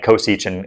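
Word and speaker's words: csch: By the way, the pronunciation of these is not entirely standardized, but I like cinch, cosh, tanch, seach, and coseach, and I guess the only weird one is cough.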